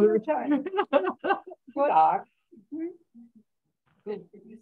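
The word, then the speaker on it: god dag: Okay, so you pronounce the G on dog. It's not good dog, it's good dog. Good dog.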